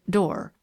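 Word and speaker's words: Doré: made by a man named door she pronounced it door the book is one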